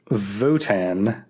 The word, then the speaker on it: WOTAN: He calls it Votan. Oh, that doesn't sound evil at all. It's spelled WOTAN, which stands for Will Operating Thought Analog.